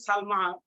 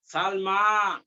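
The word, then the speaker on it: سلمى: এই যে লায়লা এবং সালমা শেষে নোক্তা ছাড়া ইয়া আছে এটাকে বলে আলিফ মাকসুরা এটা উচ্চারণ ইয়ার মতো উচ্চারণ হয় না আলিফের মতো উচ্চারণ হয় যেমন লায়লা সালমা ইয়া সালমা আফি ফাসলি কি তলিবাতুন মিনাসিনি ওয়াল ইয়াবানি।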